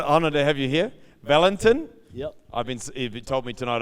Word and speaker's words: Valentin: Valentin. Yep. He told me tonight I've been saying his name wrong, which I feel really, really bad about, but he was kind enough not to be upset.